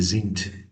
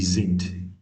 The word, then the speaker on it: sind: Sie sind, sie Z, here also as I earlier said the D at the end is pronounced as T like V sind. Ihr seid. Like this. Z sind.